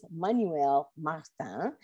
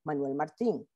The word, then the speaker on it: Manuel Martin: We don't know why Ellen Stewart pronounced Manuel Martin's name a la française, Manuel Martin, as opposed to al español, Manuel Martin.